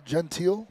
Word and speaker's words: Gentiel: His last name actually is present uh pronounced Jen uh Gentiel. So correction on that.